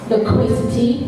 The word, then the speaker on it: loquacity: Laziness, lightness, loquacity, well done, Durua, loquacity.